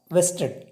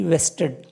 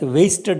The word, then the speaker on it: vested: in the governor governor vested his acting on the cabinet please note that v s t e d vested some people will mispronounce like wasted interest in if you're